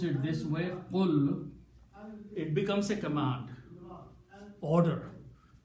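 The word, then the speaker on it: قل: When we pronounce it this way, qul, it becomes a command, order, say.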